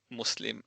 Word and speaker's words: Muslim: It it would be nice if the S in Muslim and Islam could be pronounced as an S and not as a zed.